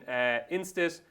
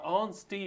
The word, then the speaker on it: Instit: It sees the rivalry renewed between Instit, or Onstee actually, would you believe? Is that right? Yeah, I was pronouncing it wrong on me, like Onstee and Tell Me Something Girl.